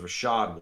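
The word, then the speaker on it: Rachaad: white is that the I think it's her shod Rashad okay it might be a Rasheed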